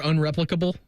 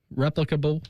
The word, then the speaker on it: replicable: Are you saying you're unreplicable? Replicable. Rep. That's that's the correct way to say it.